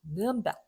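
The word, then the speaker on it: Nürnberg: 자, 브, 느, 그가 단어 맨 끝에 나오면 그렇게 발음하기가 어렵기 때문에 무성음이 된다. 프, 트, 크가 된다. 이렇게 말씀드렸어요. 자, 이부터 읽어볼게요. 뉘른베르크. 뉘른베르크. 물론 현지 사람들은 그렇게 읽진 않아요. 느른베르 이렇게 하는데요.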